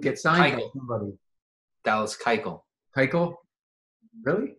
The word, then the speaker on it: Keuchel: Dallas Keuchel.